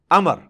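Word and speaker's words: عمرو: love you गुरु लेकिन उसका मतलब और साइलेंट होता है और बालों का मतलब यह है कि आपने इसे पेश की बजाय जबर से पढ़ना है उम्र की बजाय पढ़ना है अमर तो हसरतें अमर बिना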